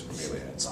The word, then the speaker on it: bromeliads: I say bromelates. Bromeliads. They look is like the- bromelates. Okay, the way to pronounce it is bromeliads.